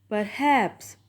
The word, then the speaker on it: perhaps: In this word, perhaps, per is not stressed and haps is stress.